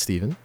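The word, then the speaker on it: Stephan: It's spelled with a PH and an A, so you'd think it's Stefan, but it's not. It's Steven.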